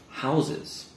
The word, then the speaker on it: houses: have a look at is this one here houses now again this is kind of a strange pronunciation as well because if we're saying it